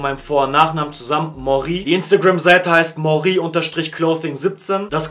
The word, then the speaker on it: Moré: Der Name ist einmal Mori. Einige dachten, er heißt Mori, also deutsch ausgesprochen, aber ich habe mich für eine französische Aussprache entschieden, weil es einfach besser klingt.